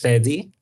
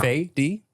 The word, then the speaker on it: Fedi: Okay, so it's Fedi. Fedi? Okay. Yeah. Faye D.